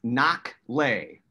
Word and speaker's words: Nakhleh: yeah it is so this is an arabic name the the truly correct pronunciation is nobody can pronounce it like that but i say so is the right way here yeah and and it's in its knock lay that's pretty simple right yes yeah i mean you can ignore the age maybe there when you pronounce it we'll we'll certainly talk